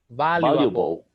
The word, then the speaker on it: valuable: So you have value, valuable. valuable. Valuable. With a V. Valuable. Valuable. It's not ba.